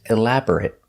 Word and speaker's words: elaborate: you elaborate on that if I use this word as an adjective the pronunciation changes if it's not a verb it's elaborate it it making a short sound elaborate describes something made